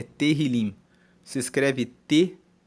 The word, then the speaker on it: Tehillim: o título de Salmos na Bíblia hebraica é Tehillim. Se escreve T-E-H-I-L-I-M.